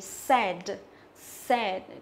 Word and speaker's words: said: Tiếp theo chúng ta có từ này đọc là gì? Said, said.